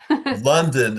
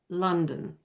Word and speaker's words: London: London is the same thing, right? Same thing. Exact same sound.